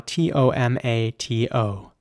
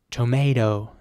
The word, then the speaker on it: tomato: next word is spell t-o-m-a-t-o and in British English it would be tomato with an R sound and quite a strong T at the end tomato and in American English it would be tomato so with an air